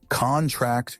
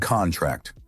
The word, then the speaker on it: contract: Stress on the last syllable is a verb. Examples, contract and contract. The former is a noun, sign this contract, whereas the latter is a verb, the muscles contract.